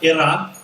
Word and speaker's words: Iran: couple hundred years ago in what is now iran you gotta say it like that uh and